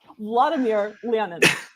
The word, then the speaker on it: Vladimir Lenin: Vladimir Lenin. It's not a weird, that's just how you say it.